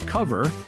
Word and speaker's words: Kovr: I'd like to thank my guest, Sri Iyer, founder and CTO of a company called Cover, and it's spelled KOVR.AI.